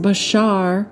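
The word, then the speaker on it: בָּשָׂר: That word is pronounced bashar, and it's from the Strong's H1319, and it's flesh, body.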